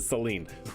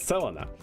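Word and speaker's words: Selene: or Selena I always I always pronounce it Seline but it's Selena the Selena f uh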